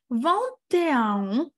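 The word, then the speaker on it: vingt et un: бути ось таке слово, яке пишеться з двома літерами «ете», і читається це як «е», тобто «вантеан», «трантеан», тобто це як зв'язує,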